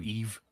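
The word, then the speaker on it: Yves: Laurent like it just it's just the Y is pronounced like a long E. So, Eve same as the Spanish s because it means the same thing.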